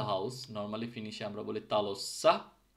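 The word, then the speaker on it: talossa: ফিনিশে আমরা বলি তালোসা সো আমরা যদি এটাকে খেয়াল করি যে তালো শব্দটা শেষ হয়েছে মূলত ও দিয়ে মানে ব্যাক বাউল দিয়ে তো যখন এটার সাথে এস এস এন্ডিং টা যুক্ত হচ্ছে তখন এই টা নরমালি ব্যাক বাউলের এইটা হবে ঠিক আছে সেম এই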